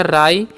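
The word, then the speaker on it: write: word है हमारा है डब्ल्यू आर आई टी ई तो डब्ल्यू का र करना आई का आई तो हो गया राइट ठीक है टी से तो हो गया राइट इसका मतलब क्या पढ़ते हैं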